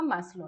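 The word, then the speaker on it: Maslow: ठीक है, सो आत्मज्ञान या आत्मबोध का सिद्धांत दिया था मैस्लो ने। इसको हम मास्लो भी कहते हैं, मैस्लो भी कहते हैं, कैसे भी प्रोनाउंसिएशन आप इसका कर सकते हो।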